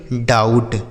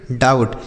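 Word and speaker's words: doubt: डाउट क्या पढ़ेंगे डाउट यहां पे जो बी लिखा है ना बच्चों यह साइलेंट है मतलब इसको नहीं पढ़ा जाएगा लिखा तो जाएगा लेकिन पढ़ा नहीं जाएगा तो क्या पढ़ेंगे इसे डाउट बी साइलेंट है डाउट मतलब क्या होता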